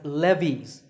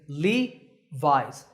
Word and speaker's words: Levi's: founder by the way the name is often pronounced wrongly as Levy's that's not correct remember that the correct way to say it is Levi's Levi's up next is